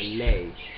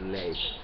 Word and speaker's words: ley: a in Spanish, like ley. So instead of ley, they will say le, where the pronunciation is ley.